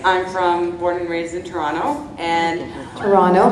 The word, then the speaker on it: Toronto: I'm born and raised in Toronto, and Toronto, not Toronto. we don't say In Scotland, go Toronto. You never say the. We don't pronounce the T. Yeah. There's only one T in Toronto.